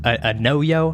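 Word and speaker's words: Anoyo: A No-Yo, I think is how you say it.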